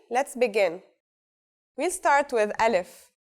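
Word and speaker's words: ا: We'll start with Aleph. So what sound does this letter make? That's easy. It's just like its English counterpart A in the word apple.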